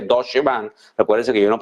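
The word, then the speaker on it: Deutsche Bank: Hay otra compañía que se llama Acadia Pharmaceuticals, cuyo banco de inversión Deutsch Bank se pronuncia, creo que Dodche Bank.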